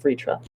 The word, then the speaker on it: Vritra: dragon of lightning and while they spell it v-r-t-r-a according to the uh hindi um transliteration he does pronounce it vritra i'm gonna trigger you